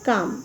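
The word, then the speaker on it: calm: काम। ये L हमारा जो है वो साइलेंट वर्ड में है।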